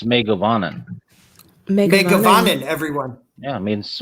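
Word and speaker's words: Mae govannen: It's Megavanen.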